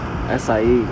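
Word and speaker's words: açaí: Acai.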